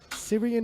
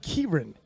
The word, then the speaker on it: Kieran: is on the board sirian ireland 117.5 kilo kieran my producers are telling me it's pronounced kieran thank you sir any